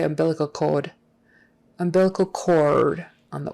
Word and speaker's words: umbilical: oh you indeed sound umbilical chord umbilical chord the accent is on that second syllable umbilical umbilical bilical cal